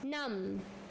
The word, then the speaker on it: numb: Numb. B silent.